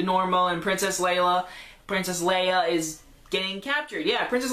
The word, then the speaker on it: Leia: little robot thing is princess lalla Leia way out yeah I've said her name wrong people told me so Princess Leia it's actually her it's